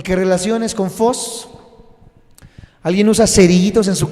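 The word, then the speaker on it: φῶς: de que lo apunten, es phos, pero se escribe PH, en vez de F, PH, y esa es la palabra phos en el griego. Ya de ahí escribes OS, phos, PHOS, phos.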